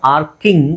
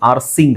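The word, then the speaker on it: arcing: ಎಆರ್ಸಿ ಆದಮೇಲೆ ಐ ಇದೆ ಬಟ್ ಅದನ್ನ ನಾವು ಐಎನ್ಜಿ ಅಂತ ಹೇಳಿದಾಗ ಆರ್ಕಿಂಗ್ ಅಂತ ಹೇಳ್ತೀವಿ ಆರ್ಸಿಂಗ್ ಅಂತ ಹೇಳಲ್ಲ ಸೋ ಇದು ಕೆ ಸೌಂಡ್ ಬರುತ್ತೆ ಇಲ್ಲಿ ಸೌಂಡ್ ಕೆ ಬರುತ್ತೆ ಆರ್ಕಿಂಗ್ ಆರ್ಸಿಂಗ್ ಅಲ್ಲ ಇದು ಅಷ್ಟೇ ಸಾಕರ್ ಸಾಸರ್ ಸೋ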